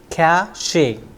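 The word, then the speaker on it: cache: c a c e it's not cach or something like that it's simply cach Cas then one more example from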